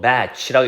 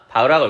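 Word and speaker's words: Bach: 아인슈타인의 상대성 이론 혹은 batch, fugue 밑에 서곡이라 나와 있는데 뭐 batch라고 있지만 우리는 다 바흐라고 그러나? 바흐라고 읽을 거예요.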